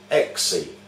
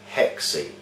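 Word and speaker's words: έξι: with a number six in the Greek language the word six is pronounced exy mispronounced by witches in the English Lang language as hexy it's a hex a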